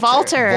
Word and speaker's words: Walter: No, it's it's it's it's spelled with a W, but it's pronounced like a V. Oh, Valter.